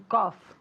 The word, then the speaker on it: cough: To cough. Very good, okay? Cuidado con la pronunciación, okay? Aunque se escribe con GH y todo eso, da igual. Se pronuncia como si fuera C-O-F. Cough, okay?